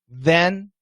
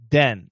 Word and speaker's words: then: show you an example so you said this that the then and if i do a d it'd be dis da da den so completely different remember